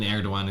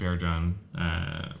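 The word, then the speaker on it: Erdoğan: Well, I guess the G in Erdogan isn't really. Nah, it's not pronounced enough.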